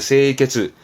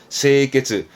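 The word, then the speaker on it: 清潔: 청결의 세이케츠, 세이케츠. 그리고 청소는 세소가 있지만 소제를 쓰면 소지. 한자가 다르니 발음이 다르다는 건 체크해 두시고요.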